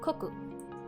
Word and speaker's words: 国: The first character is katakana for ka, and the second kanji is pronounced as koku.